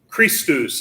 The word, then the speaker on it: Christus: as mud got it the next time we see the letter c is going to be in front of the letter h that's also going to be kind of a hard k sound as in the word ache christus is going to